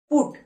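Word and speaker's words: put: এর উচ্চারণ কি হলো পি ইউ টি পুট একে আমরা ভুল করেও পার্ট বলতে পারবো না এবার আমরা দেখে নেব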